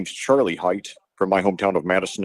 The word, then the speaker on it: Hite: it's overthrown overthrown Xander height was the intended receiver you know I that his last name is spelled hi i t like kite except with an h and uh I've only